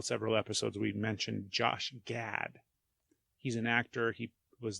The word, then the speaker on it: Gad: we talked about Josh GAD we by we I mean me mispronounced his name and said that it was Josh glad it's not with an L it's just GAD Josh GAD what if